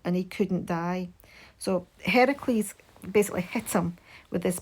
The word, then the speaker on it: Heracles: So Heracles, people sort of confuse and they call Hercules, but it's actually Heracles is the correct pronunciation.